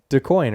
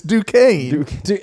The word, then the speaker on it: Duquesne: one team because Wait, how did you pronounce it? DeCoin, right? No. What? Oh, I thought you were making fun of Jordan. No, you're wrong too. Yeah, you're so wrong. It's Duquesne.